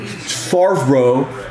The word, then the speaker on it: Favre: Apparently, every time I intentionally mispronounce his name, there'll be like YouTube comments that are like, Favre.